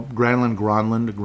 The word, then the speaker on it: Granlund: So Granlund is actually the real pronunciation.